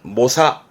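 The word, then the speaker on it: 猛者: 자를 말합니다 용맹한 자 근데 발음은 모사 모사합니다 모사라는 건 용맹한 자를 말하기도 하지만 좀 뛰어난 기량을 가진 자다 뛰어난 기량을 가진 자다 그런 의미에서 어떤 수한이 있다 해서 수안가 라든가요 모사는 애는 nh에서 좀 보입니다만은 뜻도 그렇고 발음이 좀 특이하니까 챙겨들만한 부분이 있습니다 모사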